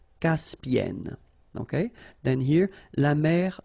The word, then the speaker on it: Caspienne: And N, so it does open the sound here. So it's E. Caspienne. Caspienne.